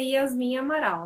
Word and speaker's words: Yasmin Amaral: nome aí para nós falar é assim mesmo pronúncia tá certa é na verdade assim meu nome mesmo a yasmin amaral né quando eu era adolescente a galera começou